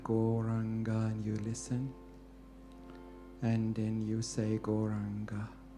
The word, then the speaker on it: Gauranga: Gauranga has 4 syllables. Go, Ra, An, Ga.